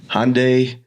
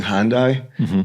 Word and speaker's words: Hyundai: at the shoot is Hyundai Hyundai Hyundai Hyundai cuz I kept saying hondai and they kept correcting me but Hyundai I had